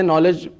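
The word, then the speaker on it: knowledge: किसी से भी पूछे नॉलेज को लिखते तो केसे हैं केस हैं बट प्रोनंसिएशन तो एन से क्यों तो 99.9 आवाम का ये रिप्लाई आएगा कि के साइलेंट हैय अब अगला क्वेश्चन उनसे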